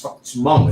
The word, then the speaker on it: Hmong: It is spelled with a silent H. It's Hmong, but it's Hmong. It's pronounced Hmong. I would say Hmong too.